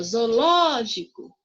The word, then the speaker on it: zoológico: Olha só, zoológico é a sílaba mais forte ao ló, ok?